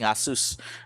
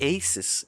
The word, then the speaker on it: Asus: And see, you know, I know my because I'm pronouncing Asus properly. I mean to be fair I did have my you know phase in life and I'm like Asis aces Asus Zeno hits Zeno said hello.